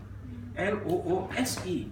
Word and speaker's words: loose: with a z sound l o o s e is loose s sound sued I heard as